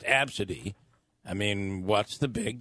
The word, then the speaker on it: Abcde: Abcade, is that how you would say It's pronounced Absidy.